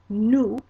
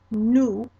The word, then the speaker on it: nous: But let's go through and pronounce our plural side here. Okay, so first person plural is nous, nous.